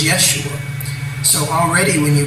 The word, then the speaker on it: Yeshua: There was no J in pronunciation when this man walked the earth. His name was Yeshua.